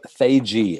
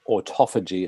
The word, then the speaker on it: autophagy: five days to auto autophagy as the english say it or autophagy as the americans say and we will explore